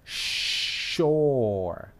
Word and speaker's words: soul: véalo por ti mismo ahí sería soul es una o larga ok ahora esa es la